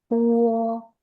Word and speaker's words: bo: Lagi ya, B dalam bahasa Mandarin dibacanya seperti P. Jadi ini bacanya adalah Puo.